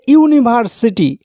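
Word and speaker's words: university: এবার এই শব্দটিকে দেখুন, এটা হচ্ছে ইউনিভার্সিটি। যদিও এখানে ইউ রয়েছে, ভাওয়েল রয়েছে, কিন্তু ইউ এটার উচ্চারণ প্রথমে হবে অই ও ইউ, অর্থাৎ কনসোন্যান্ট ধ্বনি দিয়ে উচ্চারণ হচ্ছে ইউ এর মতো।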